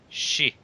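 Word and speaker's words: 四: If I remember correctly, the kanji for 4 and the word death are the same pronunciation. Yeah, shi.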